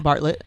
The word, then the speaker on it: Bartlett: So yeah, the two people who were on Diary of a CEO with Steve Bartlett, I believe is how you pronounce his last name. Yeah. Bartlett.